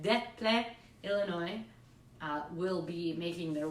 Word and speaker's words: Des Plaines: It's French. Des Plaines. There, that's how you really say it. Des Plaines, Illinois, will be making their way onto the Just the Sky Kid show.